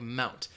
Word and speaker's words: Mt.: So if you're reading this, if you're reading a newspaper, you should pronounce this word like Mount.